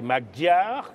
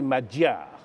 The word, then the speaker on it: Magyar: oui tout cet endroit sont des magyars qu il faut prononcer en réalité madjer bon message écrit j'ai